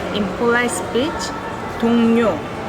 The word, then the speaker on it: 동료: 제 말 in polite speech, 동료, 동료. Even though it starts with L, you can pronounce it as N.